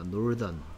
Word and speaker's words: Northern: TH의 발음이 여기는 스, 번데기 발음인데. 여기에 TH 발음은 요 낚싯바늘 발음, the 발음입니다. Northern, Northern.